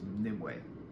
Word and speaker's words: Nimue: I think her name is Nimue. I think that's how you pronounce it.